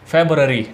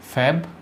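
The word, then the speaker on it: February: ठीक है, इस तरह हम फेब्रवरी, फरवरी इस तरह करके बोल देते हैं, लेकिन वास्तव में इसका उच्चारण जो होता है वो होता है फेब्रुअरी, फेब्रुअरी। ठीक है, फेब्रुअरी। आपको बोलना है फेब्रुअरी, फेब्रुअरी। इस तरीके से इसका सही उच्चारण होता है।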